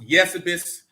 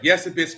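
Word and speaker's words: Eusebius: by the name of yesabis 314 a.d yes it's spelled e-u-s-e-b-i-u-s but it's pronounced yes abyss uh yes abyss pamphley an historian of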